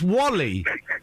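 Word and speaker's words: WALL-E: no Wally what w well yeah but it's pronounce Wally why would you call a film w e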